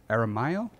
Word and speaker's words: Aramayo: It stars James Badge Dale, Chris Mulkey, Brian Garrity, Robert Aramayo.